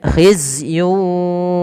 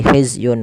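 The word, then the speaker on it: خزي: Kemudian khizyun walahum. Khizyun walahum. Masuk kan? Di sini ada tanwin melafal yun ketemu dengan wau. Maka cara membacanya masukkan tanwin kepada huruf wau. Tidak lagi hizzyun walahum tapi langsung wau.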